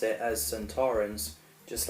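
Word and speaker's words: Sontaran: Also, Donna's misprononunciation as Santo Torren was actually the original pronouncing in the time warrior the first episode. Santorins appeared, but Kevin Lindsay, who played Lynx, pronounced it as Santorins, just like we all do, and he won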